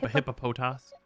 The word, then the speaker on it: Hippopotas: How do you pronounce The that? hippopotas.